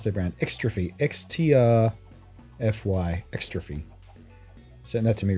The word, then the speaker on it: Xtrfy: keep forgetting what their brand, how do you pronounce their brand? Xtrfy, XTRFY, Xtrfy.